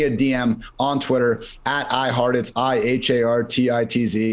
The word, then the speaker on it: Hartitz: dm on twitter at i heart it's i-h-a-r-t-i-t-z it seems like it's spelled like like i heart tits but no that's just my name it's kind of weird